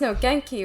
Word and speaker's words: Nogenki: Wait, it is pronounced Nogenki, right?